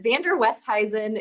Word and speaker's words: Van der Westhuizen: Oh gosh, well, going from 2 syllables before I was married to 5 syllables after I got married was a big adjustment. It rarely fits on a credit card or any kind of medical form. Doesn't fit, but Van Der Westhuizen is how you pronounce it.